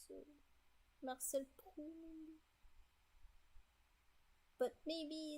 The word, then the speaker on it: Proust: I don't know how to pronounce it, but usually you won't pronounce these letters at the end in French, so Marcel Proust.